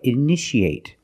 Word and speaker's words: initiate: You see T-I-A. How do we pronounce it? That's right. Shh. So how do we pronounce this word? That's right. Initiate. In the present, initiate. In the past, initiated. The second T is between vowels, so we pronounce it like a fast D.